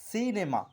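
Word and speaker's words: cinema: এখানে আমরা সি এর পর আই থাকার কারণে আমরা শব্দটিকে বলছি সিনেমা, অর্থাৎ সি এর উচ্চারণ ছয়ের মতো হচ্ছে।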